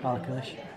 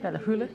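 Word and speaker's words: Ballachulish: No, that's not how you say it. Ballacluish. Ballacluish. Ballacluish. Ballahula.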